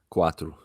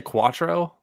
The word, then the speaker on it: quatro: what is what is four in Portuguese quatro okay did you say Quattro yeah I definitely said Quattro it's a very Americanized version quatro 29 quatro Ola M